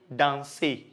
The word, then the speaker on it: danse: Example of a verb, danser, which means to dance. So to say I dance or I am dancing, I will say je danse. So you realize that I didn't pronounce the I.